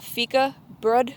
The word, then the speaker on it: Fikabröd: They have a way to help you pronounce it on their website, and the later part of it is pronounced BRUHD.